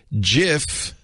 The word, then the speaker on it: GIF: was his acceptance speech it's pronounced jiff not gif so in honor of